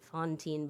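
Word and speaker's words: Fantine: M so even just her name Satine when written is basically Fontine's name uh because we pronounce it Fontine but it's spelled with an A.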